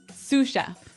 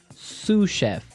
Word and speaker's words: sous chef: That brings us to our second word, sous chef. Sous chef. Sous chef. Sous chef. S-O-U-S. So the S is silent because it's like a French word.